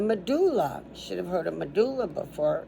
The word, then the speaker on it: medulla: should have heard of medulla before m it's med like med m e d u oo u l l a so three so the